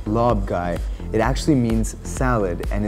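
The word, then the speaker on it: Larb Gai: Lob Gai, the way it is spelled is not the way it is pronounced, being actually Lob Gai.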